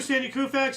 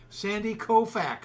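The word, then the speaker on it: Koufax: Uh 72 Sandy Kufax Yogi Bear an early win was elected to Baseball Hall of Fame. Okay, time out. You have to pronounce his name right. Sandy Kofax. Sandy Kofax.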